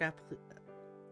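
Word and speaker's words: appliqué: I could wear all sorts of brand new clothes, but Mom didn't sew shark appliques? I've seen that one before. I've never actually heard it properly pronounced.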